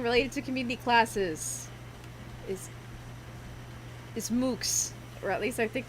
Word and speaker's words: MOOC: Another thing related to community classes is MOOCs, or at least I think that's how it's pronounced.